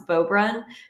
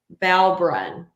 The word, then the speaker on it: Beaubrun: Cajun name because they could not pronounce Beaubrun. They kept saying Balbrun multiple times. And I'm like, have you never seen the Cajun EAU?